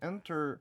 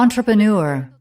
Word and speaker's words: entrepreneur: entrepreneur. 이거를 발음이 이게 항상 왜 헷갈리냐? 잔뜩 걱정. Entrepreneur. 맞네. Entrepreneur. n보다 on 이렇게 발음하는구나.